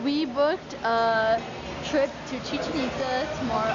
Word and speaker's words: Chichen Itza: Chichen Itza. Chichen Itza. It's like a chicken. No. Chichen Itza. I know, everyone here is like, it's like chicken pizza. I'm like, no, just make us say it right, you know?